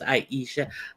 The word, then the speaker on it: Aisha: Hey, Aisha, pronounced Aisha. I thank you guys for coming in.